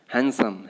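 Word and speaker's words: handsome: इसके बाद आपका है हैंडसम। हैंडसम में यहाँ पे डी साइलेंट है, ठीक है, हैंडसम नहीं बोल देना है, हैंडसम बोलना है।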